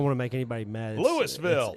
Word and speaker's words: Louisville: to make anybody mad louville it's Louisville Louisville you ever heard him pronounce it people I know like they call louville L it didn't even sound like it's supposed to be like a few syllables they just kind of make it Lou mm uh and Bobby